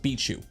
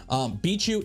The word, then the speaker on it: BIQU: v6ish nozzle uh we got a thumb drive beat you for those that don't know beat you b i q u apparently it's pronounced bichu bichu is Big Tree Tech they're the same company